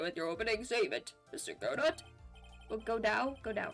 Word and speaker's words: Godot: Godot. Yeah. Okay. Yeah, you got it. The T is silent.